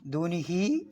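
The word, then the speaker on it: دُونِهِ: ദൂനിഹി എന്നുള്ളത് 4 മുതൽ 6 ഖദർ വരെ നീട്ടി ഉച്ചരിക്കണം.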